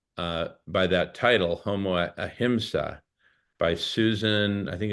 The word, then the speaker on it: ahimsa: Hemsec. How do you spell that? No, it's ahimsa. AHIMSA.